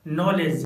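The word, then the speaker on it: knowledge: Friends, जब letter के बाद एन आता है तो के साइलेंट होता है, जैसे नॉलेज night knife not NAB nail knob.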